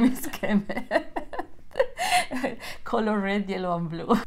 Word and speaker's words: Kemê: no we're visiting today K is that how you pronounce it yes K yes but I'm used to be Kim Kem k k anything goes is that an artist